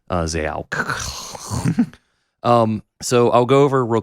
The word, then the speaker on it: Xaoc: Xaoc. Mm. I do want to pronounce it correctly. Xaoc.